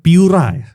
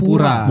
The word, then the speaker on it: Pura: Piura. Piura. Cara baca yang bener Piura. Bukan Pura. Bukan Pura.